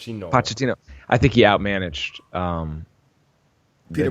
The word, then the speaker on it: Pochettino: Pochettino.